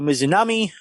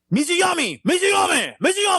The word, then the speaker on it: Mizunami: Hikaru Shida defense against Ryo Mizunami. 15 Hey, you minutes said 10 it right. seconds. What? you said it right. They fucking every 5 seconds fucking who's it? Excalibur's like Mizuyami!